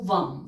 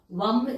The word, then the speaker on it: वं: जो चक्र है सक्रल चक्र जो है वो वम वी ए एम वम इसका मंत्र होता है सोलर चक्रा के लिए